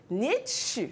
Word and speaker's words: Nietzsche: quand même bien connu, Nietzsche. Ça, c'est en allemand. Bien sûr, Nietzsche. très bien, tu es bien cultivé. Oui. On écrit Nietzsche, mais on lit Nietzsche. On avale le E.